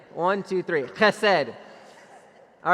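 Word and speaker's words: חסד: um relevant to us this word is called Hesed h-e-s-e-d in English and you guys pronounce that with me has said all right some of you need a little more like Hebrew in your life let's try that again one two three I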